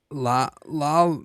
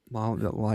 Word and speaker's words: La Llorona: Lalarona. Can you pronounce that? La Llorona.